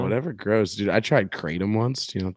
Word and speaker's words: kratom: I think it's pronounced kratom. Not to be confused with crouton.